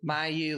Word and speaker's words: Mayeux: So for people reading your name, how do you actually pronounce it? Mayeux, like Mayeux have a weird last name.